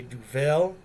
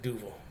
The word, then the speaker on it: Duvel: ever had a duval a lot of people must pronounce and say duvel is definitely duval yeah like what's the